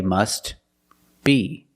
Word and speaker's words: must be: then you could say must be but if you link the words you pronounce it must be must be the t is silent because it's between consonants when you link the words must be link The